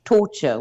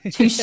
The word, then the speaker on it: Toscher: They normally pronounce it torture, which is possibly correct. But yeah, touche is how you say it.